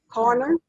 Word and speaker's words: Carney: Corner?